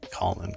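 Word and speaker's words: Kahlon: says it's k-a-h-l-o-n so I mispronounced it as colon but it's calling k-a-h- element um Colin's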